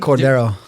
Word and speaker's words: Cordeiro: I'm just kidding no because I pronounce it Cordero okay because I say it in an English form and then it's like it's Latin Portuguese yeah way and then